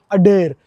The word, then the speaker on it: Adare: Of Ireland आता है, अडेर, जिसे अडा बोलते हैं, स्पेलिंग ADARE है ऑफ कोर्स, यहाँ के अंग्रेज।